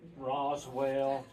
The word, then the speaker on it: Rosell: Rosell, you name it. They could not pronounce Rosell. It's R-O-S-E-L-L, pronounced exactly like it's spelled.